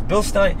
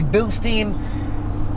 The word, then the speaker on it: Bilstein: Stein I don't know I think it's Bill Stein Bilstein Americans say Bilstein other people say Bill Stein I say Beetlejuice mine